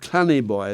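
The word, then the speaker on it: Clandeboye: But anyway, his son was created in 1644 the Earl of Clannyboy. It's spelled Claneboy.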